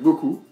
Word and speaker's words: beaucoup: donc beaucoup, que vous prononcez Beaucoup. beaucoup. Beaucoup.